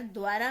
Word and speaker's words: द्वारा: इसी प्रकार द्वारा में आप देख सकते हैं, द में हलंत लग गया, इट मीन्स हमें द पूरा प्रोनाउंस नहीं करना है, उच्चारण नहीं करना है, आधा द का उच्चारण करना है, स्वर रहित उच्चारण करना है, तो ये द्वारा हो गया।